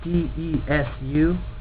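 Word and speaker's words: です: But, if you're saying it, drop the u, because the u, it may be spelled D-E-S-U in their language, and in ours, I guess, in Romanji, but when you pronounce it, the u, or the u at the end, it's supposed to be so soft you can't hear it. So you say stuff like des.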